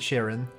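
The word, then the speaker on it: Charon: flew by Pluto and Sharon Karen I prefer calling it Sharon uh that's just how I pronounce it but I know it's probably not right but anyway here we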